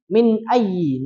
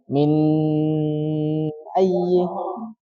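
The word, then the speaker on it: مِنْ أَيِّ: Kemudian min ayyi. Nah, itu ada nun sukun Mas. Ketemu huruf hamzah. Apa hukum bacaannya? Masih ingat enggak? Nun sukun ketemu hamzah. Jelas, betul ya. Idhar. Cara bacanya idhar jelas.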